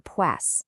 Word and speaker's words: Psoas: It's called the Pass. Yeah, that's spelled P S O A S.